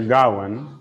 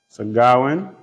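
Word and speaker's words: Gawain: entitled sir Darwin and the Green Knight sir gawan and the Green Knight segarwin and the Green Knight sir s-i-r Awan is spelled g a w a i n sagawan and the Green Knight night is spelled K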